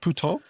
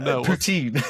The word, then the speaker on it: poutine: Is that is that pouton? Is that is that what it's called? Is that is a French swear word? Poutine is what you're trying to say. It's like poutine.